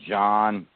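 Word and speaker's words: Jean: his name was spel it was spelt j-e-a-n but they pronounced it john fossa that's how our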